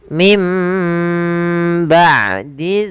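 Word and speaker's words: من بعد: Maka maaf suara nunnya diganti suara mim. Maka mimba sambil ditahan dua harakat. Mim ba'di dzalik.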